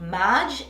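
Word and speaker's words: Maje: very similar to this in the store called Marge it's spelled m-a-j-e but it was not affordable my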